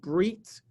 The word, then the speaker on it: brit: And the covenant, because circumcision is called bris in Yiddish, the Yiddish pronunciation, but that's the Hebrew word brit, which means covenant.